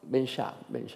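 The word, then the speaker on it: Ben Shahn: Ben Shah, como el Shah de Persia, ¿no?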